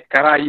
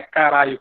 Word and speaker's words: Karai: É caraí, não é caralho, como diz o professor.